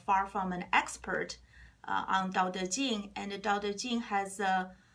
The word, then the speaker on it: Dao De Jing: For Mandarin, it's Dao De Jing, and Dao it's translated as DAO or TAO. It's just pronunciation differences, the same thing.